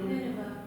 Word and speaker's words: Nineveh: I've never pronounced or heard anybody pronounce. So maybe you could help me. Nineveh? Nineveh.